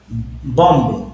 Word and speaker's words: bomb: यहाँ LM देखिए BOMB बॉम्ब, बॉम्ब थोड़ी बोलते, बॉम्ब बोलते, बॉम्ब। B साइलेंट होता है, यहाँ L साइलेंट होता है, काम।